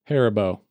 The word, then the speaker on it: Haribo: How do you pronounce it? Haribo.